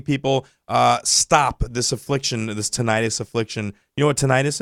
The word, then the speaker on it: tinnitus: Sal is trying to put together some events to aid in the, how do you pronounce it? It's tinnitus.